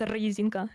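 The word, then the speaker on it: резинка: It's with a rolling R at the beginning. So, it's Ryzinka.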